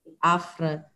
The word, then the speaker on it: Affre: Ojejku, to wiesz co, no, znaleźć nas można na pewno szukając po nazwie kancelarii, czyli AFR i Wspólnicy. Pisze się to A2FRE, to jest moje nazwisko, trochę skomplikowane, ale nawet tu się wyświetla na dole ekraniku, więc łatwo będzie odnaleźć.